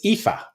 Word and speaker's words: Aoife: Okay, so this first one that looks like Alice is actually pronounced Ailish. And that one, how the fuck would you guess that? But it's Aoife.